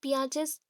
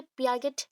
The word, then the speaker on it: Piaget: सो cognitive development और पियाजेस theory. पियाजे, यहाँ पे पियागेट और पाइगेट मत बोलिएगा, ये पाइगेट नहीं है, पियाजे। टी प्रोनाउंस नहीं होगा, पियाजे।